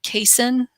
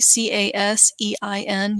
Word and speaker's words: casein: I'm saying that right, C-A-S-E-I-N, you'll see that a lot. That is the milk protein. So there's two proteins in milk. Casein or casein, I've heard it pronounced both ways, is one, and that's the dominant one.